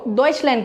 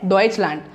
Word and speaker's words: Deutschland: डॉइच को phonetically कैसे कहेंगे? DOECH, डॉइच। ऐसे तो स्पेलिंग है DEUTSCH, अगर हम इसे फोनेटिकली कहेंगे तो आएगा डॉइच। और इंग्लिश में लैंड होता है, पर जर्मन में लैंड नहीं आएगा, लैंड आएगा, LANT, टी से ख़त्म होगा।